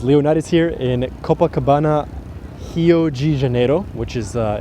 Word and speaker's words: Rio de Janeiro: Janeiro which is uh in English it would be Rio de Janeiro but in Portuguese Brazilian Portuguese you pronounce the the beginning uh RS of any word as an H I've been living here